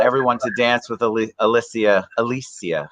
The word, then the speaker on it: Alessia: do I say it I said it wrong earlier four times I've said it wrong we we we almost certified that she' have her name uh misspelled or said wrong throughout her life because it's Alesia and then she's got